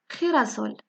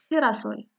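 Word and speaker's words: girasol: ثاني مثال هو خيراسول اللي هو عباد الشمس أو نوار الشمس خيراسول. هنا أيضا مع الحرف خي شي مرات كيتنطق ق بحال غاتو شي مرات كيتنطق خي بحال خيراسول.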